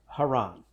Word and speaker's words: Haran: weren't already muddy enough, there are two words here in Genesis 11:31 that are both pronounced Haran. But they're two different words.